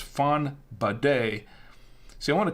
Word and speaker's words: Fonbadet: Fonbadet, not a bonnet like a bonnet or something, but it's Fonbadet. See, I want to call it Fonbadet. And then I learned how to pronounce it properly, and so I said Fonbadet.